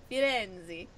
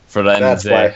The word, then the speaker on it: Firenze: No, I was joking that you have to say it like Italian. Firenze.